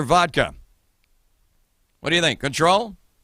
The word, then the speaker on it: Cointreau: what do you think control might that kind of almost rhymes with Patron but it's not cointron gender vodka the correct